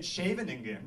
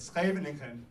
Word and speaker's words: Scheveningen: And if they said Scheveningen, which is probably what a German Nazi spy would say, they would, you know, get rid of him. Right? But if he said Scheveningen, like a good Dutchman, then either he's a